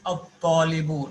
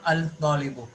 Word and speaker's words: الطالب: في You have to pronounce as at-talibu, not al-talibu, because ta is from hurufish shamsiyah. So lam won't be pronounced.